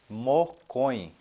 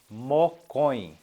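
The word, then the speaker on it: mokõi: várias vezes para que vocês assim peguem a pronúncia dos números número um PTI P tem número 2 mocões mocões mocões número 3 borra burra burra número 4 irondin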